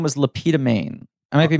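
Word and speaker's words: Le Pétomane: There was the man named Lapita Maine, which Mel Brooks takes the character name for the mayor he plays in Blazing Saddles.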